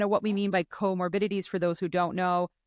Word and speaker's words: comorbidities: of me and I I always call it coor morili but it's comorbidities so we're going to talk about PCOS comorbidities and bariatric surgery together um and kind of what we mean by comorbidities for those who don't know um comorbidities are